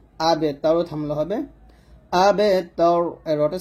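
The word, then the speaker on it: الأبتر: ইন্না শানি আকা, হা পেশ হু, ওয়াও গেলামকে ধরবে, ওয়াও লাম জবর ওয়াল, হুয়াল আবেতর, আবতার বলা যাবে না, আমরা এখানে বাটা কলকল করি না, বাটা বসে কলকল করতে হবে।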